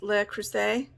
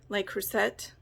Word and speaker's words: Le Creuset: Le Creuset, like, because it's French, I believe. Le Creuset. Le Creuset. I think the T is silent.